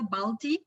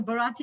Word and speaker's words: Bharati: name very well i i'm either balti or baldi or balati so i i really like you the way you pronounce it so bharati is nice okay i'm pronouncing right